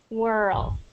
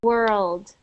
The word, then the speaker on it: world: that sounds like this you don't want it to sound like whirl oops whirl it has to have that D at the end world oh World okay World